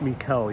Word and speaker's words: Mikel: I mean, there might be a different pronunciation in Greek, but it's Mikel, yes.